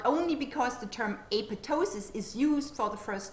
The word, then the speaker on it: apoptosis: footnote on page three it also provides instructions on how to pronounce apotosis they recommend that the second p is a silent p and that you say apotosis rather than apoptosis have a look ker